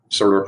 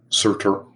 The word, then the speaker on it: Surtur: dude at the end, Surtur. I always get his name wrong. Surtur. Like sulfur. Surtur.